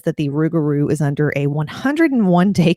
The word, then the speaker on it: rougarou: them easier to pronounce the name of the beast changed from lugaru to ruguru and it has three or four different spellings but phonetically the one that makes the most sense is r-o-u-g-a-r-o-u he supposedly lives in